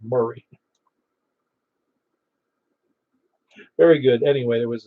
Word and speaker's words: Maury: david uh it's uh murray county yeah i'm sorry that's for you when i see m-a-u-r i think it's pronounced mori when i know well it's it is pronounced murray very good anyway there